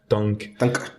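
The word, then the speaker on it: Tangk: donc l'album Tang avec qui se termine par un G et un K qui se prononce tank tu fais super bien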